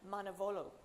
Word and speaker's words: Manavoglu: And we have Eren Manavoglu. The G is silent.